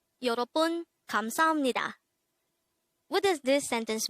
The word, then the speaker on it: 여러분: YEOREOBUN. This is pronounced as a three-syllable word. The first syllable is yo, second syllable is ro, the third syllable is bun. Pronounce it with me. YEOREOBUN. YEOREOBUN.